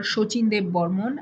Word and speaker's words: Sachin Dev Burman: your information this is sachin dev burman or shochinde burmun as we pronounce it in bengali you might have heard